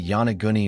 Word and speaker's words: Yonaguni: Locals call it the Yonaguni Monument, pronounced Yonaguni.